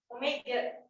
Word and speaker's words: omega: Omega. Ya, bacanya omega bukan W.